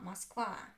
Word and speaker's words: Москва: As you noticed, I don't even pronounce O clearly. I pronounce it like ah, Moskva, Moskva.